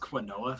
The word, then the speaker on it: quinoa: It's pronounced quinoa.